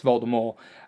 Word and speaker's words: Voldemort: made it known that the T in Voldemort is supposed to be silent so it's volta more and everyone in this